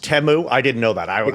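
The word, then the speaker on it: Temu: cheap cost uh goods from China is it pronounced teu I didn't know that I I always say teu t it's TAMU but honestly you know we still call it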